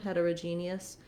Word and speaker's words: heterogeneous: uh sound heterogeneous um you might hear a little sometimes people might say that with a bit of an o because we have homogeneous and heterogeneous um you can hear how i did reduce that though that o becomes a schwa for both of these words for all three different